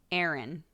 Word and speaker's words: Aaron: Aaron is really different Aaron that's how they say that name like a aro n erin all Aaron's sound the same for us yeah it's more of an aah in the middle I think clock I